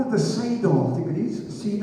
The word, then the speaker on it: Seder: When the Jewish folk celebrate Passover and they sit down to have their meal, they call it the Seder, I think it is. Seder. S-E-D-E-R, I know it's spelled like that, S-E-D-E-R, which simply means order.